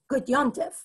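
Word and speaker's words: gut yontif: In Yiddish, the correct pronunciation, by which I mean the one that has been sort of formalized as proper grammatical Yiddish is a nun sound. The letter in the word is a mem, so it says on the page, gut yom tov, or gut yom tif, but the way that we pronounce it in Yiddish when we're actually speaking Yiddish is gut yom tif.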